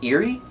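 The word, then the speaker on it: Irri: But I believe her name is pronounced Eri, I-R-R-I, Eri, the servant of Daenerys that gives her advice.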